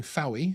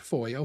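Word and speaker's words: Fowey: world the golden horizon leaving fowie which is actually pronounced foyer thank you foy harbour on the south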